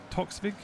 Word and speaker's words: Toxvig: Is it Toxvig? Is that how you say it? Yeah. And said Toxvig.